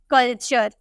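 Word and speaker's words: culture: यू आर ई तो यहां पर आपको जो टी नजर आ रहा है ना इसे हम च में प्रोनाउंस करते हैं हम बोलते हैं कल्चर ठीक है कल्चर यहां पे आपको ट को ना च में प्रोनाउंस करना है तो क्यों कभी हम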